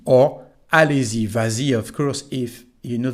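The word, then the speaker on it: vas-y: is no s here so why do we have S well again it is to help the pronunciation in this case it's not a t but s it's like that so we say vazi and we write VA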